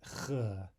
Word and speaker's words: Х: This is ch, as in the CH in the German Bach.